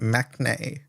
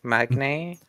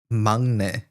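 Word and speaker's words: 막내: Like magne? Mangne. Mang Okay, where's the N before the G? It's sort of connected. Magne. Like So it's N typed. NG Okay, is like K.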